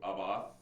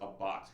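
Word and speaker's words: Abbath: know I actually interviewed aboff it's actually pronounced a bot he said I interviewed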